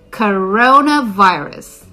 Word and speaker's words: coronavirus: so how you say it is CUH row na virus the first sound is cup cup uh-oh just relax your mouth and the second sound will be oh so you want to go cook row no virus coronavirus coronavirus the second word